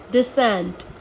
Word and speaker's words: descent: तो एस के संग अगर सी आता है तो वो साइलेंट ही रहता है, और अगर के